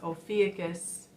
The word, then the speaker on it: Ophiuchus: The teacher didn't know how to pronounce Ophiuchus, so I said it's Ophiuchus.